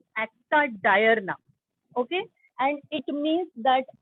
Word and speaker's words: acta diurna: You should pronounce it as diurna, diurna, nothing. It's acta diurna.